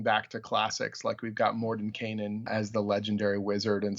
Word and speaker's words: Mordenkainen: Look at you pronouncing Mordenkainen correctly. Well, thank God someone had to, because I can't, Stu. I know how to say it, and I just can't when I actually want to say it out loud. The N in the middle just doesn't happen.